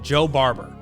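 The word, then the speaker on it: Jo Barber: Joe Barber, but it's spelled just J-O. So it's just Joe Barber.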